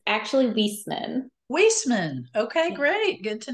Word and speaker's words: Wieseman: everyone and we're so glad to have wisman did I pronounce that right it's actually whisman whisman okay great good to know that of